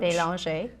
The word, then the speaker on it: Belanger: Belanger.